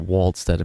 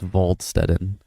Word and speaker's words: Waldstetten: It's not Waldstetten because it's German, it's Waldstetten.